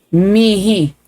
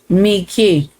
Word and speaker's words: mihi: Romer o Romer pero karamihan ang naririnig ko sa pronunciation ng me mi mihe Ay mihi pero sa eclesiastical latin ay dapat Miki.